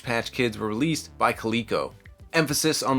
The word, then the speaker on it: Coleco: Emphasis on the word Coleco because on a previous episode when I was talking about a Rambo action figure line, I said Calico, and everyone in the comments let me know I said it wrong.